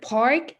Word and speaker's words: park: We find difficulty in pronouncing the P sound. Okay, and it makes a huge difference. For example, the word park and bark.